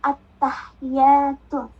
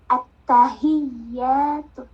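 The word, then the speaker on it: التحيات: Rata-rata bacanya at-tahiyatu. Padahal yang benar at-tahiyatu. Beda panjang, maka kenapa ini harus dipahami Mbak?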